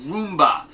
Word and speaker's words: rumba: uh New Orleans Rumba the Rumba sometimes pronounced Roomba uh is a great